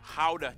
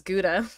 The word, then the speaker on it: Gouda: And the pride and joy of the nation, howdah cheese. Yep, that's how you pronounce it, guys. Oh. Howdah. Okay. I definitely thought it was Gouda.